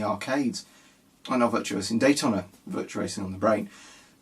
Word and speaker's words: Daytona: On the videos I always pronounce it wrong, and I think, I don't say it like that, so it's Daytona, not Daytona.